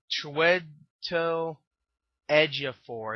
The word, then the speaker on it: Chiwetel Ejiofor: gonna listen to the main guy played by Chiwetel Ejiofor, I think his name, Ejiofor or some elephant, I don't know, something like that. I know he was in a lot of movies. Chiwetel Ejiofor.